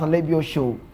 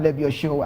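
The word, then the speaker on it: Alebiosu: If you're Yoruba, you pronounce Alebio Show.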